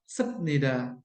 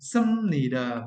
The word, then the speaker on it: 습니다: Jika dibaca, menjadi -benida dan -sepnida. Oke. Namun, pengucapannya adalah -mnida dan -seumnida.